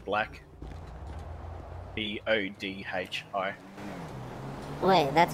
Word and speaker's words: Bodhi: Bodie. Last name Black. B O D H I.